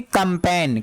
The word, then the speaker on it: campaign: जी word silent होगा क्या होगा जी वर्ड साइलेंट होगा क्यों वह क्योंकि अभी बताया जी के बाद जैन होगा तो वह हमेशा जी साइलेंट होगा ही होगा तो हम इसको क्या करेंगे कंपन क्या पढेंगे कंपन कंपन का मतलब क्या होता